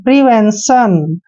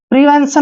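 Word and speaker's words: prevention: हो गया वेन और टी प आई ओ एन का उच्चारण हम हमेशा सन करते हैं देखिए आप जोड़ के पढ़ते हैं प्रिवेंशन प्रिवेंशन होता क्या है रोकथाम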